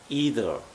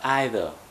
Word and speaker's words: either: know something and remember either or either there are two ways to pronounce it either or either so either coming on to